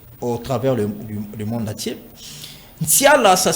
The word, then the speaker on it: Nsiala: Nsiala, ça s'écrit avec N, S, I, A, L, A.